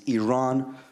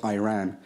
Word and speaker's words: Iran: You say you support the Iranian people, but you're pronouncing our country's name wrong. Our country is named Iran, not Iran.